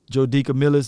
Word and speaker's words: DeCamillis: Joe DeCamillis, that's how you say his name?